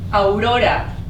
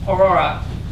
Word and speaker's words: Aurora: And my name is Aurora, not Aurora. Aurora. Not quite there. A-U-Ro-Ra.